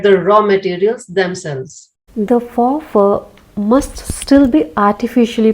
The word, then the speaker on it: faux: Faux fur is quite merely fake fur. Faux, which is pronounced like the word faux, is French or not real, synthetic, acrylic.